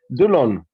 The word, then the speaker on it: Delaune: Delaune.